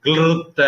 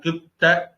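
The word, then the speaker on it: क्लृप्त: மாதிரி தப்பா போட்டாங்கன்னு நினைக்கிறேன் அவங்க கிளர் கிளிருத்த அப்படின்னு சொல்லுவாங்க அதனால கே எல் ஆர் ஐ ன்னு போட்டாங்க ஆனா கிளித்த அப்படின்னு சொன்னாலே போதும் பிக்சட் டாக்சஸ் அதை மொழிபெயர்த்திருக்காங்க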